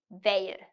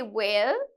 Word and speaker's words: veil: you pronounce these words it's important Veil but if you say will okay that means talasa okay so you have